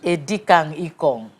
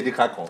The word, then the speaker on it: Edikang Ikong: Edikang ikong. That's the right pronunciation. Edikang ikong. Yeah. Edikang means. We don't say edikakong. Edikaikong. So this is edikang ikong.